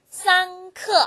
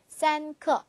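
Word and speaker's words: 三刻: 45분에는 경요 그게 세 개 모이면 되죠 어떻게 발음하죠 쌍크 물론 45 그대로 숫자적으로 나열로 하셔도 돼요 스스 우 하셔도 되는데 같은 개념으로 조금 줄여서 표현한다면 산크 좀 더 쉽겠죠 그다음 30분이라는 표현인데요 3과 을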